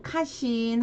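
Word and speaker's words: 家臣: 자, 가신, 신민 이렇게 신하 신자가 들어갔고 그럼 일본어 발음 한번 해보면 가신인 경우에는 카신 하시면 되는데 자, 신민일 경우에도 신민 이렇게 발음을 하시면 됩니다.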